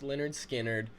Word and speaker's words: Lynyrd Skynyrd: This track is off of their debut album, pronounced Lynyrd Skynyrd, and it was a very difficult choice to